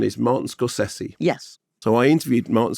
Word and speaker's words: Scorsese: So you corrected my pronunciation. Scorsese. Yeah. Okay. Everybody says Scorsese. I know, and it's wrong. They're all wrong. Okay, so now we are corrected. The correct pronunciation is Martin Scorsese.